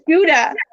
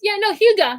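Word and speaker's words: Hygge: Because I thought it was Gouda. No, wait, what? It's Huga. That's how you say it, Huga.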